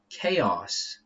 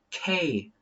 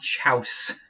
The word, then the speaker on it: chaos: Let's go to this word, chaos. Yeah, so this word, it's just like this. Chaos. Like Australia. Chaos. Not chouse. Not chouse. Chaos.